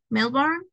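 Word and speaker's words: Melbourne: who lives in Mel that would be melbour Melborne is not pronounced the E melbour came to visit me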